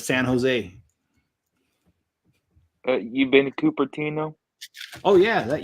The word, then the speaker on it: San Jose: And it used to crack me up because they also call it San Jose instead of San Jose.